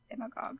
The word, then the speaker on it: Demagogue: Is that how you pronounce that? Demagogue, yes.